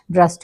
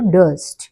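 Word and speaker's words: durst: feared weighted worried dead డస్ట్ డ్రస్ట్ కాదు డస్ట్ డస్ట్ అంటే dad okay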